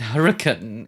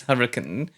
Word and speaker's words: Hurricane: aside, but I think it's so funny that hurricane is pronounced that way. Like the city is hurricane, not hurricane. CEO of Fazbear Entertainment was convicted last Thursday.